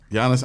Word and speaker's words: Giannis: Giannis, like with a Y. Giannis Antetokounmpo. Giannis, and what's the last name?